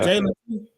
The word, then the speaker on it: Jalen: His name Jalen, right? I'm saying it right? Yeah, Jalen Noel.